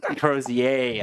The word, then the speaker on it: Crozier: I was curious about the proper pronunciation of that. I think Crozier. Am I good? Crozier.